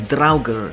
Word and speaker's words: Draugr: Beyond them though is the Draugr (pronounced "drau-gr"), the undead monsters of Norse folklore.